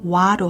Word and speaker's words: wha: 번째는 huh이고 허로 발음한다 두 번째는 wha다 t가 없음에 주의하고 발음은 와로 한다 이제 두 주문을 합쳐